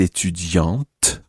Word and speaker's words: étudiante: Now, Anna says, je suis étudiante, with a t sound at the end.